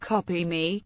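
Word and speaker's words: Kopimi: Bean co-founder ibraim batana the logo pronounced copy me can be used to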